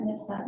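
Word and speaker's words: NPSOT: We have stuff for NIPSOT, we pronounce that NIPSOT, Native Plant Society of Texas.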